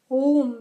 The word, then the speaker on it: Om: Om, which is spelled how?